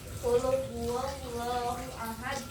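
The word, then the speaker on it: قل هو الله أحد: Kalau tahsin itu untuk kita tahu di mana letak suaranya, biar huruf qaf tidak terdengar seperti huruf kaf. Contoh kita ambil dari surat Al-Ikhlas yang bacaannya qul huwallahu ahad. Nah, dibacanya qul huwallahu ahad, bukan qul huwallahu ahad.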